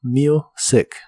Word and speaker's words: music: en este caso música la u de music se pronuncia como you listening to music listening to music y